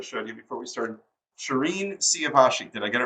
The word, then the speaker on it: Shirin Siavashi: down as I showed you before we started Shireen siavashi did I get it right that's perfect I was nervous about pronouncing your first name not your last name